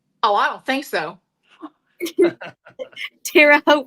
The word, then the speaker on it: Terre Haute: You're getting a lot of comments just letting your old Texas ass know that Terre Haute rhymes with goat. Oh, I don't think so. Terre Haute rhymes with goat, mama.